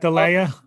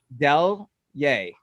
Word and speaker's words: Deleier: Delier. Not delay. Delier.